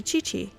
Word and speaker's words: Qi: I keep forgetting that in Chinese, a Q is a chi sound or a ch, because that's why kui or kiki or however you mispronounce it is actually chi.